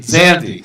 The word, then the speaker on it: Zandi: the semifinal open match, and it's between Bahman, Zandi, how do you pronounce his last name? Zandi, thank you.